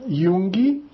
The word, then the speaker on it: Junge: Der Junge, J pronunciado como I, né?